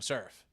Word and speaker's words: CSRF: learned from reading, and CSRF is always going to be CSRF to me, but I will catch myself saying surf. as a not necessarily a surfboard, but literally a hard C or a softish C.